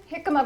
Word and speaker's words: jicama: Jicama, but it's spelled with a J.